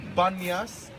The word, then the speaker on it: Banyas: The place is called Banyas, but actually it's a mispronunciation of Panyas. Pan, the Arabs, cannot pronounce P.